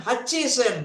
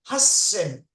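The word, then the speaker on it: 八千: Then hachi sen. No, has sen.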